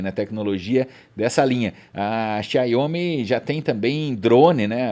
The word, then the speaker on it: Xiaomi: falando da xiaomi né xomi também como se fala mas é xiaomi que se lê exatamente muito bem Renato Ross